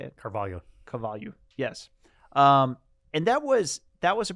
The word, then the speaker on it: Carvalho: Carvalho.